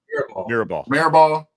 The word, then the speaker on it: Mirabal: How you say his name? Mirabal.